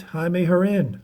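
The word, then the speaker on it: Jaime Jarrín: right jaime herrin spelled jamie jaron but it's pronounced jaime harin hall of fame 1998.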